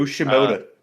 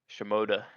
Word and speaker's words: Shimoda: And it was at the expense of Joe Shimona, I think is how you say his name. Joe Shimoda. Shimoda, who followed the rules in a red blinking light situation.